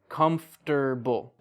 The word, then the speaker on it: comfortable: Or like comfortable. That's how it's spelled, but native English speakers, we say comfortable.